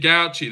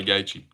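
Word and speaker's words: Gauci: Gouchy. That's how you say it. Sean Gouchi. But it's it's hard not to say Gachi.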